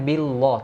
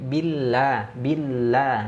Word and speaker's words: billah: Kalau ini tipis ya, jangan sampai kita membacanya billah, tapi billah ya, billah.